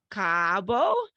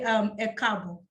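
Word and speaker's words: Ẹ káàbọ̀: Welcome, Cabo. And Kaal, good evening. Yes, am I close in Yoruba? I looked it up. Close. Okay, tell everyone. How do you say welcome? I'll say Ekabo.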